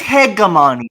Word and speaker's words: hegemony: __ ] hypnose hour i'm gonna pronounce it it's hegemony now it's hegemony i'm fine with that i'm fine with that pronunciation just don't say homogeny because that's a different word actually i don't like